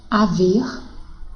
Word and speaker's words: haver: Porque a letra H não tem som, não é verdade? Então, seria emitido dessa forma: haver, herói, hino, hora, humor.